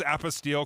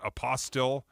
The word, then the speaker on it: apostille: lieutenant governor's office, and it was apostille because I was saying it wrong. I was calling it apostille.